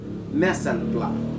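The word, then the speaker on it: mise en place: uh missing place but allow me to correct that the correct pronunciation of that is mesen blood so messenger is the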